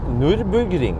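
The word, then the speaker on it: Nürburgring: that it like nurburg Nurburgring right it's it's Nurburgring right not like uh the Brit like top gears the Nurburgring Nurburgring right yeah and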